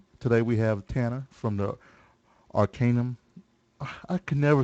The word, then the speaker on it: Arcanum: know it's the I'll say Arcanum podcast. exactly how to say it. Arcanum. Okay. Yeah. Tanner told me. Arcanum.